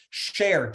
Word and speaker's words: Share: So people, 2 A's and 2 L's, share, just like it sounds, S-H-A-R-E.